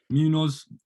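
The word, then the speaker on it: Munhoz: I'm going to butcher their names, and I know how to say it as well. Munoz?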